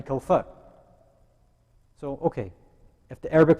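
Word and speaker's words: الكوثر: Inna a'atayna kal kawsar, that's not correct, right? It's kal kawfar.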